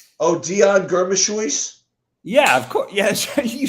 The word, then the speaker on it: Germishuis: Leon Gamushuis. Oh God, Kenny. Give us a name we can pronounce.